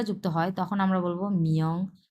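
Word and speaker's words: 名: হয় তখন আমরা বলব মিয়ং খুবই সূক্ষ ভাবে উচ্চারণ করব মিয়ং এভাবে মিয়ং যেহেতু এটা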